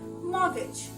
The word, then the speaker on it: mortgage: m-o-r-t mod gauge but my dear friends is mortgage that is m a w g is it